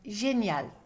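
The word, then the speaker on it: génial: AL bring it together like a yes sound genial General note don't say super General unless you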